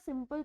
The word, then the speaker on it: soup: OUP को हमने कुछ नहीं पढ़ना, सिर्फ ऊ ही पढ़ना होता है, O and U, नॉट P। तो इसकी जो प्रोनाउंसिएशन आती है वो डबल O से आती है, O and U की। Like example, सूप, SOUP, सूप को हम पढ़ते हैं SOOP, सूप।